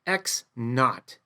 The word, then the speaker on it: naught: It's pronounced X naught, N-A-U-G-H-T.